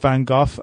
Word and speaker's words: Van Gogh: you give me that your Dutch is a fine go or Van Gogh is in Dutch okay oh you cannot say because that's sort of this guttural sounds is a sort of typical Dutch but but that's the the Dutch pronunciation okay okay so quite